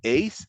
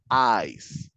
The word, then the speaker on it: eyes: la pronunciación de ojos, it's not eyes, es eyes. Eyes. Como ice, Okay.